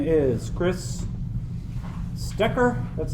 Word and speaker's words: Stecker: So my name is Chris Stecker.